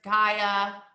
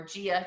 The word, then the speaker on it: Gaia: it was like uh mother earth gaia or gia depending on how you say her name you know everything